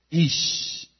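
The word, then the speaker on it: איש: Ahora, hombre en hebreo es ish, I latina, SH en la fonética.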